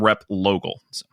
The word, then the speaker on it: Replogle: V like Vogal some people know that name rep logal well so far in our podcasting experience together